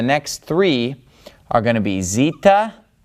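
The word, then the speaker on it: ζήτα: and then have the three that rhyme Zita eita theta all right so that's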